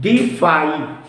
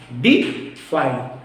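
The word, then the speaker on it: deify: है डी आई एवा इसको हम उच्चारण करते हैं डी फाई डी फाई चार ऑप्शन है देखिएगा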